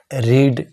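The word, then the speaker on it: read: a book is being रीड जो verb होती है उसकी तीनों फॉर्म जो है सेम होती है बोलने में उच्चारण में अलग-अलग होता है तो थर्ड फॉर्म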